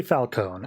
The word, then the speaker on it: Falcone: I say Falcone. I feel like that's the most obvious silent E I've ever seen in my life, but whatever.